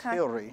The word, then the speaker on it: Hillary: It's actually German, and it's pronounced Hillary.